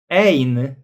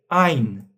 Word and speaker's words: ein: You see a e i a u o For example we don't say we don't say ain but we say ein ein eins zwei drei Polizei und so on.